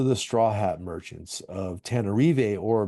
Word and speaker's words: Tana: straw hat merchants of tanar or better known as what the locals say Tana which is the capital